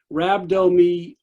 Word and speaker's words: rhabdomyolysis: rhabdo i'll come back and i'll get the pronunciation of this let's try it more time rhabdomyolysis rhabdo so basically what happens is your muscle